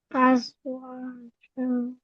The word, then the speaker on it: أزواجا: জায়ের আমরা মাখরাজ পড়েছিলাম, যে জিহ্বার আগা সামনের নিচে দুই দাঁতের আগার দিকে লাগিয়ে বলতে হয়।